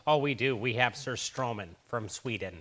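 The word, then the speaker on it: surströmming: the name absolutely right it's just like sir strumming very nice all right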